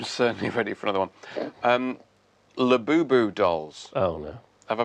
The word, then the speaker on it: Labubu: Labubu dolls. Oh, no. Have I pronounced that right?